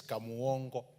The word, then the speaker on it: Kamuongo: Honorable Speaker, it is Kamuongo. That's the way we pronounce it down there.